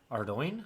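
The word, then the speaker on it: Ardougne: ] you pronounce that I think the official is like Ardo yeah yeah I think so but like ardun is who cares it sounds better in my humble opinion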